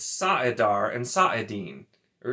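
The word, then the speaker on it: saidin: just being overpronounced and if you look at it phonetically it's actually apparently sa dar and sa it di saadan so not even saidar and saeedin it's sa'adar and saadin or it's a den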